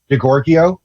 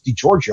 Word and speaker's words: DiGiorgio: was it'd be like if I was pronouncing DiGiorgio as DiGorgio, and then I went to fucking Italy, and they're like, DiGorgio? No, dude, it's DiGiorgio.